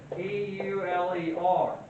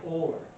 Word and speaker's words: Euler: It's spelled E-U-L-E-R. It's pronounced for us Americans that have trouble, especially Southern Americans like myself, more like Euler. Euler.